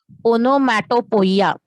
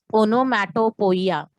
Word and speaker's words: onomatopoeia: See the pronunciation of word. Onomatopoeia. Onomatopoeia.